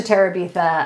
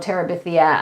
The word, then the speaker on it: Terabithia: of aj yes victory is that how you pronounce it i'm not sure gone girl oh that's for sure a bridge to terabitha oh terabithia um yeah that one's just like the diary